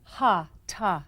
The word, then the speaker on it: hatha: was originally practiced in India hatha yoga or ha ha yoga as correctly pronounced these are Sanskrit words that literally mean